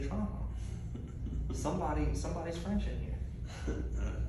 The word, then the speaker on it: Trahan: have a big like of my family that's Tran but we pronounce it tra in Louisiana okay t r